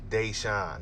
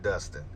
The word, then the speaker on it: Deshawn: name the article writer name is Deshawn Blount Deshawn not Dustin so definitely want to